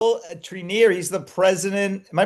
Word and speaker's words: Treneer: Treneer. He's the president. Am I pronouncing that right?